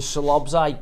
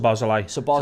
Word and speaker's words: Szoboszlai: Whereas your Slobzai, what do you call him? Szoboszlai.